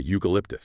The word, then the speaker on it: eucalyptus: So, it's a uniform or a eucalyptus. Same u sound.